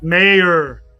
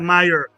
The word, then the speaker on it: Mayer: for him to leave mayor mayor not Mayer mayor say his name right oh thank you thank